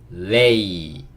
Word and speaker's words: lady: 여기도 lady. 보이세요? 요렇게가, 그쵸? lay 소리가 나고요. 요렇게가, 그쵸? lady라고 읽을 수 있고, ladies and gentlemen, 신사숙녀 여러분 이라고 얘기할 때 쓰는 말이고요.